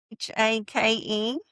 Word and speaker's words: Haight: Hake. Is that how you would say it? Yeah, like rake. Cake? Yeah, that's how I say. Cake? If you're gonna rhyme with something, you might as well rhyme with cake.